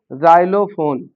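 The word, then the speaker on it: xylophone: और वाई आता है तो यहां हम फिर जा पढ़ेंगे। जैसे जाइलोफोन। जाइलोफोन एक वाद्य यंत्र होता है। एक वर्ड आता है जेरा। एक जाइलो फोर व्हीलर गाड़ी भी आई है। तो अगर एक्स के बाद तुरंत आई है तो उसको हम जा से पढ़ेंगे।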